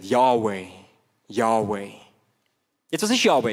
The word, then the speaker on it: Yahweh: Vielleicht wichtig zu wissen, im Hebräischen gibt es kein Vokal, es gibt nur Konsonanten. Und man weiss bis heute nicht ganz genau, wie man das ausgesprochen hat, die Konsonantenabfolge. Aber viele Gelehrte gehen davon aus, das ist ein Konsens in der Forschung, dass man den Namen so ausgesprochen hat.